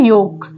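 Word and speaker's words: yolk: है next word है योक योक में एल प्रोनाउंस नहीं हो रहा है क्या बोल रहे हैं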